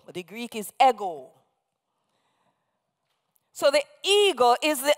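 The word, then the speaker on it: ἐγώ: It is actually the Greek personal pronoun ego, epsilon gamma omega, E-G long O. We anglicize the pronunciation and say ego, but the Greek is ego.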